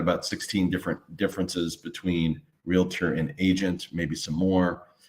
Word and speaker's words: realtor: know a realtor or some people mispronounce and say realator but it's realtor versus an agent and